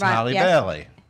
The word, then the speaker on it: Halle Bailey: They call rhymes with Halle Berry, but it's Halle Bailey.